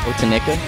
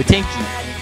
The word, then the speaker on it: Otenki: How do you say it is the first question, because they're all like, Otenika? No, Otenki. It's O-T-E-N-K-I.